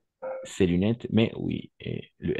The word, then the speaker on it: ces lunettes: On va prononcer C, ces lunettes, mais oui, et le S à la fin, n'est-ce pas?